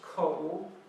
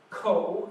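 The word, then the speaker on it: 口: It is pronounced ko.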